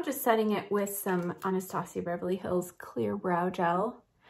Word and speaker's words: Anastasia: to that brand but some of you laugh when you hear me call it Anastasia Beverly Hills but that's how she how she pronounces it so I feel like